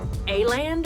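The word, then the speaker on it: Åland: Oh, so now, but I really I thought it was pronounced Aland or Aland. They pronounce it as if it's Holland without the O,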